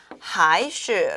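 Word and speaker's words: 还是: 还是 자, 还是 라고 읽고요.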